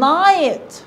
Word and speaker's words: night: يبقى نقول ساعتها good night good night أروى good night. ايه ده يا مين؟ ده في جي اتش، انت اكلتيهم؟ اكلتهم، هما بيتكتبوا لكن مش بيتنطقوا. good night الجي والاتش silent.